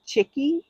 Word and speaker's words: Chike: It's called Chicky, and it's spelled Chike.